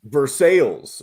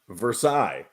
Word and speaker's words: Versailles: We've also got Versailles, which should really be pronounced Versailles. Now, that one, I can understand the pronunciation different just because it sounds a little hoity-toity. But maybe it should be Versailles. I don't know. But because that is taking from a French town, and it's a French